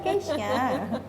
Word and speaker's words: Keisha: walaupun dibilang Cesia nggak mau, ini tetap Keisha. Dapur Keisha, bacanya Keisha. Bukan Keisha. Gitu.